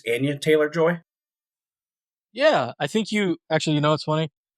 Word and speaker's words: Anya Taylor-Joy: Uh, I I always mispronounce her name. I think it's Anya Taylor-Joy.